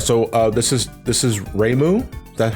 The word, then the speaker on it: Reimu: All right, so this is Reimu. Is that how you pronounce their name?